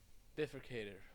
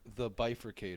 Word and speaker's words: The Bifurcated: Uh, please welcome Danny Bifrocator or how do you pronounce it? It's pronounced the bifurcator.